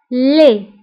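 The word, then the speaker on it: laid: وقبيح لي. فبالنسبة لدي ما كنتقاش آخر الكلمة كنقولو لي.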